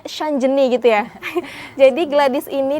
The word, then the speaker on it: Gladys Shanjeni: Ini bacanya Shanjeni gitu ya.